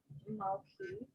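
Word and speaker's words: מלכי: So so melech, you have the soft sound, but then when you put it in a possessive, the chaf becomes a kaf, so that you can it's just malki.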